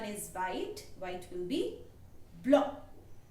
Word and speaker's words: blanc: White will be blanc. Blanc. Blanc. There will be a little nasal sound.